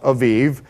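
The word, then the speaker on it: אביב: In Hebrew, it would be pronounced Aviv.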